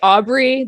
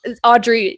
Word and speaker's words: Audrey: but today we have audrey did i say that right yep yes a lot of people say aubry they just totally disregard the d that's in my name so audrey yeah that's that's the